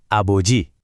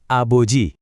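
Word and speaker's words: 아버지: Dengarin baik-baik ya pengucapannya dan coba ikuti. Siap. Aboji lagi. Aboji sekali lagi. Aboji.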